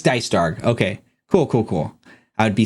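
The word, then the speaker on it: Dycedarg: It's Dicedarg.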